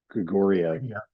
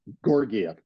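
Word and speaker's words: Georgiev: Help me with the name, because I'm going to mispronounce it when I say Grigoriev. Yeah. Gorgiev.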